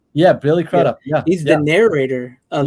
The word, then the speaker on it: Billy Crudup: Yeah, Billy Crudup.